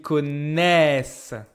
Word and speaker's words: connaissent: Makes sense because this one ends with an open sound. S. So to match the fact that there's an open consonant here, I also open the pronunciation of the vowel. We don't do this to make it complicated. We do this so it sounds natural and easy for the mouth.